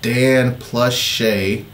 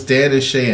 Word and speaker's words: Dan + Shay: this request so uh this is Dan plus is that how you say it Dan Plus or Dan and Shay all right so it's Dan and Shay and Justin Bieber obviously